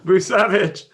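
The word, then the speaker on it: Vučević: Yes, Vucevic. I need to do a show with JT Hayes because I pronounce the names correctly.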